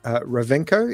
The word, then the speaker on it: Rovenko: fine art, Melbourne based fine art photographer, Andrew, Ravenco. Is that pronounced correctly, Andrew?